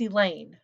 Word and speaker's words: Elaine: asks me about her that's elaine i reply rhymes with pain she frowns everybody says